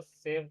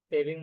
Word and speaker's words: sew: और वो सेव का क्या होता है? सेविंग मशीन जो होता है, सर स्टिचिंग।